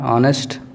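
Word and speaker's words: honest: एन होनेस्ट ये भी इसका प्रोनाउंसिएशन आ से आ रहा है, ऑनेस्ट, जबकि यह है कॉन्सोनेंट है एच पहले, लेकिन हम उसको ऑनेस्ट लगा रहे हैं।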